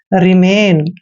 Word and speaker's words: remain: Next है REMAIN, आर का उच्चारण रे करते हैं, ई को छोटी की मात्रा पढ़ते हैं। एम का उच्चारण मैं करते हैं और AI को ए की मात्रा पढ़ते हैं, एन को न पढ़ेंगे।